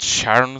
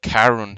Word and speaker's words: Charon: is my story okay so it's not Sharon staircase but Karen staircase okay I was wrong